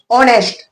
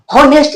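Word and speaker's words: honest: एच यहां पे silent mood में रहता है। वो बस दिखने के लिए एच है। काम उसका कोई नहीं है। काम कुछ नहीं है बस दिखने के लिए हां हम एच है बाद बाकी उसका प्रोनाउंसिएशन ऑनेस्ट से होता है ऑनेस्ट ऑनेस्ट हम किसी को क्या बोलते हैं ऑनेस्ट बोलते हैं ईमानदार बोलते हैं होनेस्ट नहीं ना बोलते हैं कि रे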